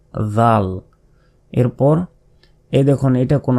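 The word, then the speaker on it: ذال: এ দালের উপরেই যখন নক্তা হয়ে গেল তখন সে অক্ষরের নাম কি? জাল। যেভাবে বের করে উচ্চারণ করতে হবে। জাল এরপর এই দেখুন এটা কোন অক্ষর?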